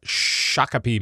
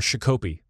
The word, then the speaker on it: Shakopee: way it goes so and that's in Shakopee Minnesota or shikko P as one of the one of the announcers at Disneyland said it was really sad I